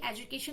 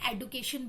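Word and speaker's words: education: जैसे एजुकेशन है उसको एडुकेशन भी कहा जाता है.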